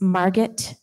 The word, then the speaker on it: Margit: enjoy, Margit, and that's Margit rhymes with target, right?